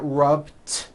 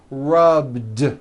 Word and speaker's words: rubbed: yesterday I rubbed up all I did was add a voiced D sound at the end rub it's not rubbed with an unvoiced T it's rubbed like that here's another example clean